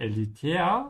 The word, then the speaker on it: elitär: Und elitär sounds just like the English elitist.